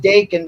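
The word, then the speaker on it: Daken: what's today's name Dakin it's supposed to be pronounced Dakin because Deadpool uses the phrase release the Deacon instead of release the Kraken whatever it is it's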